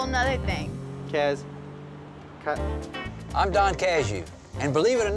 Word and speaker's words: Cazayoux: jury child so criminals learned his name Don casu when he expanded Early Education in the legislature